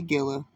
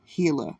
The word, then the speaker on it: Gila: on the nearby Gilla some people will say Gila it's really pronounced hila okay guys hila River